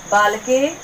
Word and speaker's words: बालकः: कोई कठिन नहीं है, बालक ही तो है लिखा हुआ है यहाँ पर, बस अहा लग गया है तो हम इसको अहा का उच्चारण करेंगे।